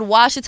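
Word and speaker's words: Ouachita: I thought it was called Washita. I asked my dad how to spell it. He was like, you tried to spell it with a W, it's spelled with an O.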